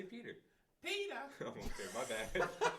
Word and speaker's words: PETA: You kept butchering PETA, by the way. Yeah, it's PETA. PETA. James, you don't say it like that, though. Yeah. Say Peter.